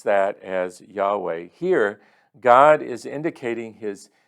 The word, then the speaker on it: Yahweh: word Yahweh it's um in the Hebrew language y h w h and then they put in the vowels A and E and so we would pronounce that as Yahweh here God is indicating